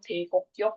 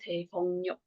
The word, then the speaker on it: 대곡역: Nah, nanti dibacanya itu bukan Daekokyok tapi Daegongyeok, stasiun Daegok.